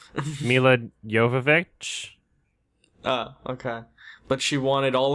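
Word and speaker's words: Milla Jovovich: Mila Jovovich.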